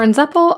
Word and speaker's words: 'Nzeppel: line all about the process okay so for en zeppel I'm going to divide this tile in half